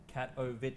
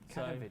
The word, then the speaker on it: Katowice: Yeah, so Inman has just pointed out internally how they say it at ESO, Katowice. So, Katowice.